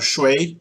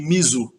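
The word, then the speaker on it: 水: O ideograma para água, que é isso aqui, ele é pronunciado shui no chinês e mizu no japonês.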